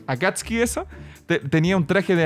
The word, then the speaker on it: Akatsuki: Akatsuki. Akatsuki, eso.